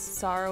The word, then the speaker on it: Sarah: it's not Charo it's Sarah with an H the H is silent good thank goodness I